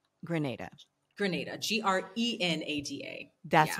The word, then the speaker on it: Grenada: in Grenada and um which is not Granada it's Grenada we know that pronunciation